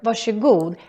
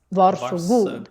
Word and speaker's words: varsågod: This word, varsågod, has a very interesting pronunciation because it's written like this. Varsågod. But when you pronounce it, then we say more like a sh sound.